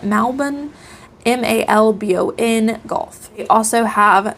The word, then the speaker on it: Malbon: It is Malbon, I think is how you pronounce it, Malbon.